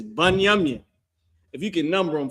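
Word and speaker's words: בנימין: How you say that in Hebrew is Banyamin.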